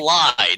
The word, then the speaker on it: Lied: That is it lead or lied? How? It's I've heard it pronounced both ways. Yeah. Yeah, it's lead.